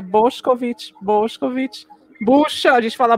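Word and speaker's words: Bošković: Aí outro dia ele estava ensinando as pronúncias pra gente, e aí ele falou que é Boscovic, bucha, a gente fala busa, é bucha.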